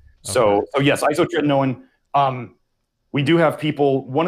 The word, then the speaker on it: isotretinoin: Maxim in the chat room says, is there a difference between vitamin A detox and ISOT retinoin? How do you pronounce that?